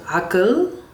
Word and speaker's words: Aqqal: And this AI is called Akil, okay? Let me see if I can like, it's spelled AQQAL, and I will zoom into this part.